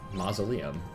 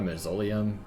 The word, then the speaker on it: mausoleum: crawl back into another mausoleum monster yes i almost got a masolium but it is definitely not pronounced as such uh is this a